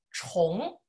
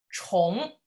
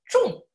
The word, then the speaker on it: 重: 首先这个字啊，跟着老师读一下，读作重。重。